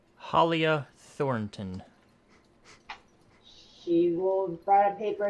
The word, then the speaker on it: Halia Thornton: How'd you pronounce her name? Halia Thornton.